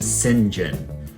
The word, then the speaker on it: St. John: the play's main character, St. John Quartermain, although it's pronounced Singhen. Singinjun is played by Rowan